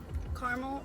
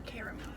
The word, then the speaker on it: caramel: listen I think carps caramel or caramel if you say caramel you're wrong favorable it's caramel that's like the worst thing